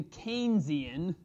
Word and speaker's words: Keynesian: considered the first stage it's called the keynesian think keynes ian so think you know the canes miami right all right it's not the keynesian it's the keynesian even a spell it's spelled with a k-e-y it's keynes this guy's maynard keynes